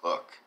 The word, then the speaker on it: Coke: edward coke excuse me i always say coke it's it's not coke it's cook it's spelled like coke c-o-k-e but it's uh sir edward cook but they also include